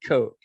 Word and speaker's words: Koch: It looks like Koch is spelled like cock, but they pronounce it Coke.